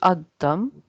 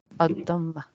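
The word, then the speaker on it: الضمة: So this will be ad-dam, and it's not ad-dam, it's dhammah because it's mabni. Yeah. Ad-dhammah.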